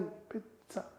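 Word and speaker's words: pizza: जा, पिज्जा, इसे आधा बोलना है, पूरा नहीं। तो क्या प्रोनाउंस करेंगे? इट्स पिज्जा। पिज्जा नहीं, पिज्जा।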